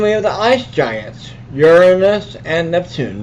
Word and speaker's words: Uranus: And then we have the ice giants, Uranus and Neptune. Notice how I pronounce Uranus, not Uranus. That's how we pronounce it.